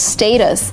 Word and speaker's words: status: of really really conservative the actual pronunciation is status and again you can continue saying status but if it's the time when you decide how to pronounce the word status it's kind of more academic the word is status in America we always say status we never say status